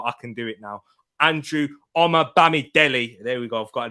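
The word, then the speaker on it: Andrew Omobamidele: been injured a couple of times i couldn't pronounce his name right but i can do it now andrew omar bami delhi there we go i've got it there people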